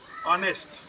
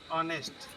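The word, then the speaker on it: honest: इसका जो लिखावट है वो तो है किससे? एच से, लेकिन हम इसको पढ़ते क्या है? ऑनेस्ट। क्या पढ़ते हैं? ऑनेस्ट, ऑनेस्ट पढ़ते हैं, ठीक है। ऑनेस्ट, इसका उच्चारण किससे हो गया? वावेल से हो गया, ठीक है।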